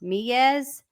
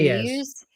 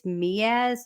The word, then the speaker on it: Meiwes: Also, I think his last name is pronounced Miaz instead of Muse.